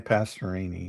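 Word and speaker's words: Pastorini: Is it Passerini or Passeroni? I always forget how to say his last name too. The Oilers quarterback. Yeah, Dan Passerini.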